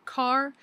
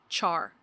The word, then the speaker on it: char: Some people, including me, pronounce it car, but you will meet people who call it char.